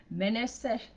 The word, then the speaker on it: Manasseh: "And Joseph called the name of the firstborn Manasseh, for God, said he, hath made me forget all my toil and all my father's house." And Manasseh in the Hebrew is pronounced Menasseh, and it means causing to forget.